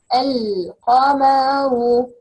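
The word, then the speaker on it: القمر: We have another words like al-qamar, and here we can't pronounce lam.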